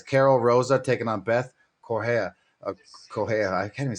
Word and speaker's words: Correa: Correa.